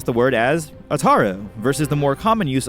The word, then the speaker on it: Ataru: common use of Ataru I couldn't find anything to support the sound of you taking on the vowel sound of O in any context Japanese or otherwise so for me the pronunciation remains Ataru form v lightsaber combat is